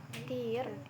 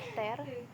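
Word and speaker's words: tear: Dan kata tir dalam pengucapan tir itu artinya air mata. Dan kata dan kata tir dalam cara membaca ter itu artinya merobek.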